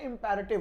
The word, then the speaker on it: imperative: लेकिन इस वाले में इंपेरेटिव नहीं होता, वैसे तो इसका एक्चुअल प्रोनाउंसिएशन इंपेरेटिव होता है, ठीक है, लेकिन अपनी भी आदत है गलत बोल जाने की, लेकिन आप लोग ना बोलिए।